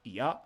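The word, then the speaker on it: 矢: If you want to use arrow in a sentence, this is how you do it with ya. It can also be pronounced shi, especially when used with other kanji.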